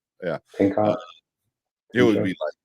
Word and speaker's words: Pinchot: I don't know how to pronounce his last name. Yeah, Pinchot.